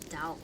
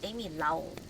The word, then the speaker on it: Lao: It's not Dao. It's Amy Lao.